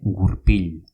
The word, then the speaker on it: gurpil: Se dice gurpil.